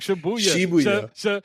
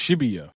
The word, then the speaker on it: Shibuya: So, it's not Shabuya. It's Shibuya.